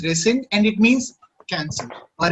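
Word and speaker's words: rescind: called resend okay okay it's pronounced as resend and it means cancel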